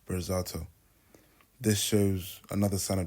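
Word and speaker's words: Berzatto: On top of this he mispronounces kmi's last name on purpose to almost belittle him calling him burgazo when his real name is pronounced bizato.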